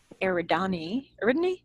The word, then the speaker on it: Eridani: And the trip from Tau Ceti to Epsilon Eridani. Yeah, I looked it up. It was Eridani, and I'm very unhappy about it. We're going to pronounce this one correctly from the outset.